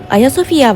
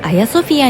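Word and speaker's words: Ayasofya: そのハギアソフィアが中世の発音でアヤソフィアになり、そ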